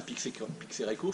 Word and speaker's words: Pixérécourt: Hein, Pixérécourt, c'est P-I-X-E-R-E-C-O-U-R-T, comme ça se prononce.